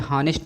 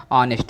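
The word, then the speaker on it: honest: ठीक, तो ये हॉनेस्ट नहीं है फ्रेंड, ये आपका ऑनेस्ट है। क्या है फ्रेंड, आपका ये ऑनेस्ट, ये जो लिखा है यहाँ पर एच आपका साइलेंट लेटर है, और इसको आप ऑनेस्ट पढ़ेंगे।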